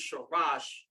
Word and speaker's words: Sharash: That's the Shah sound. Head of the man is the Ra. First word is Sharash.